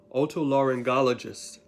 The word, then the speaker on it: otolaryngologist: along with the okay this one is seven syllables otolaryn otolaryngology otolaryngologist these people treats and